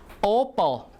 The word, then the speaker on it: opal: Opal, opal, stress on the first syllable.